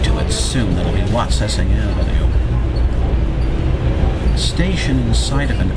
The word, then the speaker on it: Watsessing: And here's Watsessing Avenue. We're now arriving at Watsessing Avenue. This is Watsessing Avenue. For some reason, they're not pronouncing the T in Watsessing.